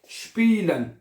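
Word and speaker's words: spielen: आपको बताया था कि जब IE इकट्ठा आता है, मैं यहां पे लिख देता हूं, अगर IE इकट्ठा आता है तो उसको E करके पढ़ा जाता है, ओके, और जब EI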